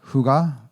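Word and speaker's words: hygge: It's actually pronounced huga and it's Danish.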